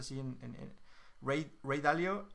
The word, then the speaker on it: Ray Dalio: se llama rey del dalio entonces y se pronuncia así en el great ray dalio y él aparte de ser exitoso en la